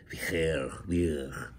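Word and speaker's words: bheur: I don't know, Eli speaks Middle Welsh, of course, told me how to correctly pronounce B-H-E-U-R. It's like, Vier.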